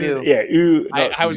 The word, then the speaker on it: Ewan: Brent says Owen a lot. Owen. It's like Owen. I Owen say it. McGregor. Oh, it's My best Ewan. Ewan. Like Yeah, you. it's Like Ewan. you. Yeah, Ewan.